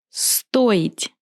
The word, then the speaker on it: стоить: Стоить. Я стою. Ты стоишь. Он стоит. Мы стоим. Вы стоите. Они стоят. In this verb, I will pronounce O clearly because O is stressed.